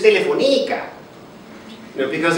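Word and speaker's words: Telefónica: Actually, more exactly, this is, if you spell it, if you pronounce it correctly in Spanish, which is where they're, this is Telefonica.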